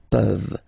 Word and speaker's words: peuvent: Okay, as usual, this ending, this ENT ending, you write it, you don't pronounce it. Okay, peuvent, peuvent, peuvent.